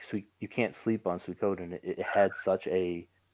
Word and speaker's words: Suikoden: mentioning and recommending s-u-i-k-o-d-e-n it looks like it's coding but it's pronounced sweet code so s-u-i and i'm